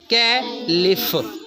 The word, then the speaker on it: caliph: वाज the second कैलिफ, CALIPH क्या बनता है? कैलिफ। CA LI ली, कैली, और PH फ की साउंड दे रहा है सिर्फ, कैलिफ।